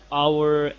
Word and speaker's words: hour: a vowel sound for example an umbrella an hour an honest an apple etc notice that the